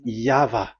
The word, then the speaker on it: Yahvah: Pronunciation is equal V. It is V. Y H V H. So it is YAHVAH.